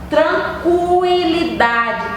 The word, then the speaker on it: tranquilidade: u k a e agora quando eu digo tranquilidade tranquilidade aí eu digo a letra u eu pronuncio a letra u tranquilidade então você e para